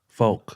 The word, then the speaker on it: Fouke: Spell it. no. Fouke. Folk.